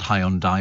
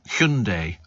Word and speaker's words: Hyundai: electricity nowadays but uh it's not called Hyundai is it's Hundai or something like that it was there was an advert telling me how to pronounce it I've been doing it wrong for years h kundai I think it was but then I mean